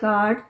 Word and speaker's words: guard: You silent भी रहता है काफ़ी वर्ड में। कब रहता है? स्पेशली जब यू ए का कॉम्बिनेशन हो, जैसे गार्ड, GUARD, सो गार्ड, गार्डियन।